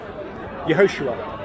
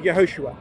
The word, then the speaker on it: Yehoshua: Yehoshua. Is that how you spell it? Yeah, yeah. Is it in Hebrew or Aramaic? In Hebrew, Yehoshua.